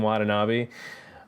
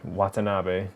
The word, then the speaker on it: Watanabe: like you gotta do it yeah like Ken Watanabe um why did I say his name like that was weird Watanabe um and how people are just [ __